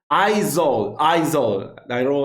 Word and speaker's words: Aizawl: Aizawl. I learned that's the right pronunciation.